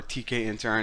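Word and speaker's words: Tkinter: like other libraries like kinter uses this lot or TK antara now that's how you pronounce it but you're going to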